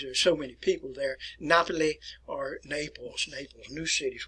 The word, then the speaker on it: Napoli: Napoli or Naples, new city is what it actually translates to me.